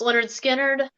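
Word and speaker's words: Lynyrd Skynyrd: have on my list is pronounced Leonard Skynyrd um really a great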